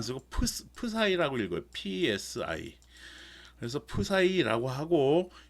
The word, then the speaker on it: psi: 기호로는 이렇게 파이를 안 쓰고 psi라고 읽어요.